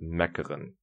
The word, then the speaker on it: mekkeren: You pronounce it mekkeren. And I know it sounds like I just had a throat explosion or something.